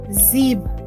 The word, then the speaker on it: sieb: The spelling of Zeben becomes Zeeb. S-I-E-B, Zeeb.